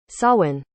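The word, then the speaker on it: Samhain: Irish ancestry who apparently didn't know how to pronounce the Gaelic Festival of sworn Sawan anyway I didn't want to put this album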